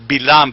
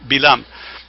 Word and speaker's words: Balaam: And then and it's the pronunciation is Bilam, by the way, not Balaam, Bilam.